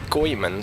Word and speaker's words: Goemon: came from the gambari goyman series yeah so how you pronounce it it's actually goyman and not Gomen as I used to pronounce it yes it is